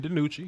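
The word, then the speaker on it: DiNucci: I like Ben the nutrient is that you pronounce it nice Ben DiMucci yes sir yes I like him just because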